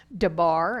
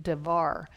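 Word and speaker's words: דבר: Sometimes it's spelled debar, and sometimes it's spelled with a V, devar.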